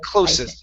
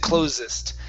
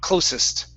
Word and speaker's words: closest: It should be closest. You said closest. So unvoiced S. Closest.